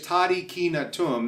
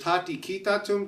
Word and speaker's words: tadi kina tum: This particular phrase explores the phrase tadi kina tum. That's the way I pronounce it. There's tati kita tum, tadi ngina tum, tadi kita tum. There's a variety of different ways that you can speak it, but I've discovered